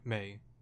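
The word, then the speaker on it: Mae: Or Mai, or no, sorry, May. May's the correct way to say it.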